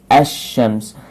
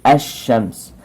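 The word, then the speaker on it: الشمس: Then they are pronounced like ash-shams. Lam is not pronounced. It's directly the next word to lam. So alif and sheen are pronounced, but lam is silent. So ash-shams.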